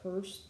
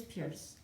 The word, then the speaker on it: Pierce: okay that might be pronounced purse because the author Link in purse uh it is Pierce Franklin Pierce okay go ahead put